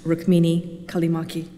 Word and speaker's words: Rukmini Callimachi: And just as an aside, I realize that my name is unusual and it's difficult for people to pronounce, but it is pronounced Rukmini Callimachi.